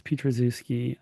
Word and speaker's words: Petrazooski: Yeah, I have um a terrible to pronounce last name. It's Petrazooski.